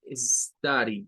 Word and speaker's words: study: Es como un sonido de A y de U, como en la palabra up, de arriba.